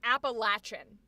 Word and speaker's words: Appalachian: Because in where I grew up, we were told it was pronounced Appalachian.